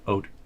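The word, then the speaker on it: Oudh: Midi and Ode. Ode. Yep. O-U-D-H, technically is how it's spelled. O-U-D-H. Ode.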